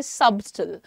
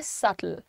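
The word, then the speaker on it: subtle: इसमें बी जो है हमें क्लियर दिखता है, तो कभी कभी जिन्हें नहीं मालूम होता वो कहते हैं सबटल, लेकिन सबटल नहीं है इसका प्रोनाउंसिएशन, इसका प्रोनाउंसिएशन है सटल, सटल।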